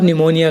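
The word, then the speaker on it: pneumonia: और निमोनिया guys. और इसमें देखो गाइस, एन से पहले पी आया हुआ है तो पी साइलेंट है, इसे पी निमोनिया नहीं पढ़ेंगे, निमोनिया पढ़ेंगे गाइस, इसकी हिंदी भी निमोनिया है।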